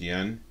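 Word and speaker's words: Yeun: spitting hands that stephen yoon who is glenn just for clarification it's pronounced yen that watch is supposed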